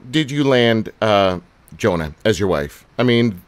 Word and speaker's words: Joanna: I mean, I even had to learn that because it looks like Joanna, but it's Jonah, right?